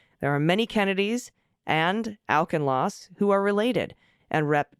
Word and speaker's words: Auchincloss: Jake Auchincloss pronounces his name Auchincloss.